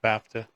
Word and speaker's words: BAFTA: I'm just going to spell it. B AFA award. Sorry, I'm not going to say that. It's BAFTA.